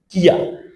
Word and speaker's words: きゃ: কিয়া। উচ্চারণটা হবে কি?